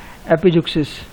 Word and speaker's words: epizeuxis: है ना, तो उसको हम क्या बोलते हैं, एपिजुक्सिस। याद रखना, क्या बोलते हैं, एपिजुक्सिस।